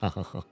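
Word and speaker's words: Seamus: Pronounced Sham.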